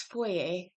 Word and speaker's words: foyer: I'm Canadian and so I say it foyer, not foyer. And like I guess writing it doesn't get that across because anyways, it's foyer. That's how it's pronounced.